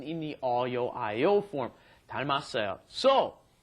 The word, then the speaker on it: 닮았어요: 닮았어요. So, notice the pronunciation of this. The 닮다 becomes 닮았어요 because that last, look at Niti's yes, that final M moves up in front of the next vowel, right?